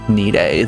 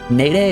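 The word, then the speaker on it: Nede: I guess if I'm pronouncing the planet as Nide, then Nidian would be the name of the people of the planet, right? Not Nadian. Nade as the planet name just doesn't sound right.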